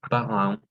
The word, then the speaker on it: parents: Entonces, siempre que sea EN o EM, es más una nasal. Entonces, parents, lisant, oui, parents, Ah, lisant, ok.